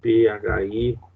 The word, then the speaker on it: Phi: E ainda, né, se falando nessa ilusão da Gestalt, né, esse fenômeno chamado Phi, P-H-I, cuja pronúncia é Phi, né, que diz que é uma ilusão de movimento ou movimento aparente, quer dizer, nós somos traídos pelo movimento.